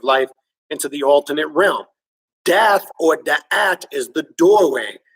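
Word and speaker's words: Daath: In the Western world, we call that doorway death, a word hermetically sealed but phonetically exposed in the Hebrew tree of life, where it is called Dath, D-A-A-T-H, which translates to wisdom or to the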